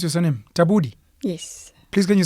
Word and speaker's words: Tabudi: Tabudi. Yes. Please, can you say it for me? Tabudi. Tabudi. Tabudi. Yes, it's Tswana.